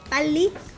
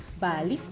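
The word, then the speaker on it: 빨리: It means, you pronounce it bali. Bali.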